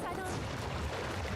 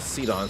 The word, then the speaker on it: Sidon: Sidon. Not Sidon. Sidon. I keep pronouncing it all wrong too much.